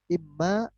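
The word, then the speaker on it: إمّا: Imma, imma ini di dalam bahasa Arab itu dari kata-kata inma. Sekali lagi inma. Jadi huruf nun idgham masuk ke dalam huruf mim. Jadi imma dibacanya.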